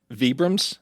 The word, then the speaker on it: Vibrams: Vibrams.